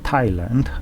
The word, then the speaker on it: Thailand: then i looked and i realized it's actually pronounced thailand as if it was written without age after